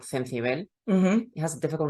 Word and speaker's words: Cencibel: grown in Toledo, called Cencibel. It has a difficult name to pronounce, so that's why we don't put it again. Cencibel. Cencibel, it's like sensible, but with a th.